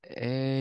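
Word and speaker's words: 柄: Our next word is e. This kanji can be read as something else and have a totally different meaning. But when it's pronounced as e, it means the handle area of something.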